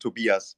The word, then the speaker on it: Tobias: I live in Mexico but I'm German that's why my name is pronounced Tobias or Toby is fine oh good and talk